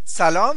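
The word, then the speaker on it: سلام: This is short a, so we pronounce it a. Lam is a long a.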